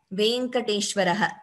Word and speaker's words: Venkateshwara: It is not Venkateshwara. It is Shri Venkateshwara. There is no A, like I said in Sanskritam. The correct pronunciation is Venkateshaha, Venkateshwaraha, Shri Venkateshwara Suprabhatam.